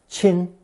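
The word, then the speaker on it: 亲: on an intimate level this combination is pronounced first tone chin and is used in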